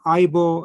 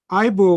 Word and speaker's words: Ibo: Now, a little clarification on Ibo and Igbo. Now, Igbo is the native pronunciation of the word, okay, in the Igbo language. Ibo was used by the Europeans because they couldn't say Igbo properly, and that has been